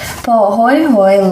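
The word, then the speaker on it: pāhoehoe: Pahoehoe lava is pronounced pahoehoe.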